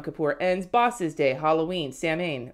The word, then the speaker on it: Samhain: ends, Bosses Day, Halloween, Samhain, or Samhain, it's pronounced Samhain, right?